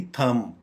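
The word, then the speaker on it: thumb: जैसे हमने क्लाइम में बी साइलेंट किया था, यहाँ भी थम में भी बी साइलेंट करेंगे और इसकी प्रोनाउंसिएशन बन जाएगी थम, थम, थम।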